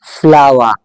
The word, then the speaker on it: flower: अब इस British English में आप इस वर्ड को प्रोनाउंस करेंगे फ्लावर। ये फ्लोर नहीं है।